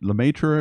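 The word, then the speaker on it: Lemaître: don't know yes thank you it was made Lemaitre am I saying it right yes thank you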